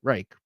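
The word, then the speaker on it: Ruike: The reason I say that is because Ruik, the knife brand, pronounces it Reich.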